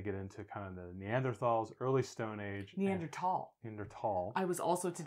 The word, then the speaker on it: Neanderthal: over and over and I finally went maybe she's right and I looked it up National Geographic says Neanderthal and I was like